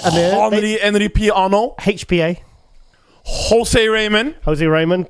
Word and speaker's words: Henri-Pierre: Henri Pierre. Henri Pierre.